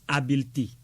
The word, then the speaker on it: habileté: Écrit H A B I L E T E accent aigu. Le mot se prononce habileté et est du genre féminin.